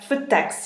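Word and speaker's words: Føtex: is both foot tex i think it's pronounced foot text it's F OTE X with the / -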